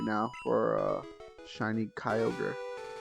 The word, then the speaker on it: Kyogre: for a shiny Kyogre Kyogre is one of those Pokemon names that I butchered all the time as a kid because I didn't recognize the words that it was made of so I was always reading it as Kyle gree Kyle gree thinking